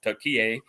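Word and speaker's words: Türkiye: I know Turkey or Tier that's the correct pronunciation now, right?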